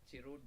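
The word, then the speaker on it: chroot: And namespace, C group and CS root, like CS root will be pronounced as Chirut by me, like don't take it wrong.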